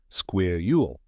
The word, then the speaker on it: squirrel: but don't worry we're going to nail this pronunciation the correct way to say it is square Ule let's break it down step by step first